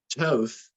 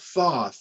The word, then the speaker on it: Toth: But Toth, and not Thoth, okay? Don't get him confused with the Egyptian god. It's Toth, and it's spelled T-O-T-H, but it's T-O-E-T-H is the way it's pronounced.